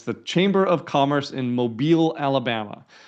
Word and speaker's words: Mobile: It's the Chamber of Commerce in Mobile, Alabama. M O B I L E pronounced Mobile if you're not familiar with that.